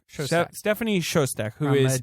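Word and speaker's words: Szostak: Stephanie Shozak. Shozak. I think it's pronounced Shozak. Something like that. I have the pronunciation. Shostak.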